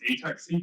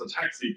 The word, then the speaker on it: ATAC: do it's not pronounced a taxi it's pronounced a taxi because the enzyme attacks the DNA okay but it's important